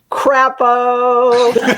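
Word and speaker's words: Crapo: coined by dr robert crappo and i'm going to spell it for you because it's not like chapeau you know e-a-u it is c-r-a-p-o crap like like like the marx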